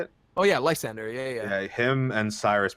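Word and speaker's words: Lysandre: Oh yeah, Lysander.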